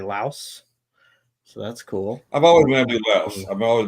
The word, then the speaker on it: Laos: The uh you know, I I uh now can correctly pronounce the country Laos.